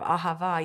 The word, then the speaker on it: ahava: Ahava and he said the way that you say it is you hold that last syllable that last syllable is as long as you can until you literally are out of breath like you would say instead of Ahava you'd say aha and he said it's